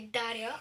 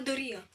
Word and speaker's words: Дария: от една малка дария дария не даря а дария ударението на д така а след